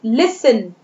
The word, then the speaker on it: listen: then listen, listen, T is silent letter here, listen।